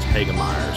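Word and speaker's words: Hoegemeyer: I know it's spelled Hogemeyer, but I believe it's pronounced Hagemeyer.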